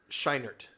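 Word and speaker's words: Scheinert: I was a little surprised how do you pronounce his last name uh shinert sheinert Daniel shinert yeah a little surprise on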